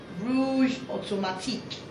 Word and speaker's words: Rouge Automatique: The next thing I also got was this Rouge Automatique. I like to pronounce it that way because I think it's French, and that's probably the way it should sound.